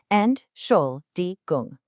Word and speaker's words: Entschuldigung: we just break it down carefully, syllable by syllable. Let's do this together, nice and slow. Ent- schul- di- gung.